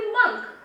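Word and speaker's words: monk: आपने भी सुना होगा MON के मॉन्क होता है, but that is actually मंक, that is नॉट मॉन्क।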